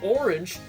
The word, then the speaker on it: Ornge: I didn't know about this until now, but apparently Ornge, an air ambulance organization here in Ontario, uses Billy Bishop Airport as one of its bases. The A is silent in writing, by the way.